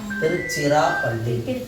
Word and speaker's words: திருச்சிராப்பள்ளி: Sirappalli C உச்சரிக்கணும். Sirappalli திருச்சிராப்பள்ளி. அந்த சி நம்ம சொல்லணும் திருச்சிராப்பள்ளி.